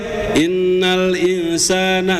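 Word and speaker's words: إِنَّ الْإِنْسَانَ: Inna di situ izhar bacanya tuh, Pak. Ya innal insana coba Pak innal insana. Nah ya Pak ya. Jadi enggak bunyi eng.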